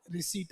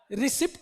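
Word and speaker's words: receipt: हाँ, रिसीट, ये noun, रिसिप्ट नहीं बोलते इसको, रिसीट। देखो, अरे इसको क्या पढ़ते हैं, रिसीट, और इसको क्या पढ़ते हैं, रिसीव। सिप्ट, पी को साइलेंट रखते हैं।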